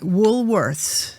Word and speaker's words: Woolworths: Woolworths. Woolworths. Woolworths. Sounds like Wolf.